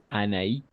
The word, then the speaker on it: Anaïs: Anaïs d'accord tout simplement pour prononcer d'accord les voyelles Anaïs non elle oui exact s parce que si non on va prononcer mais ça signifie d'accord maïs Noël Anaïs pour distinguer d'accord les mots oui j'adore le film